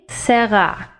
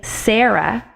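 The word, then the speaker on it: שרה: makes the word sarah serra notice that the second syllable in both of these hebrew words is the syllable which is to be accented we don't say sarah we say let's go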